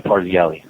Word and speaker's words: Parzelli: James Parzelli, is that how you pronounce his name? Yeah, Parzelli.